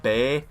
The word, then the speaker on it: Bailly: Now, I don't know if his last name is pronounced Bailey, but I do believe it is pronounced like Bay, like B-E-A or Bay.